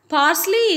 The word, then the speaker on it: parsley: Parsley is a spice that is used for cooking. So how do you pronounce parsley?